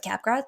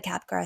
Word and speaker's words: Capgras: g a RS but like in French we don't pronounce the last letter um this condition was